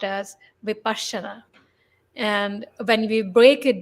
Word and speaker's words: Vipassana: heard him okay and in Pali the word is pronounced differently very differently than it is in English Nepali pronounced as vipashana and when we break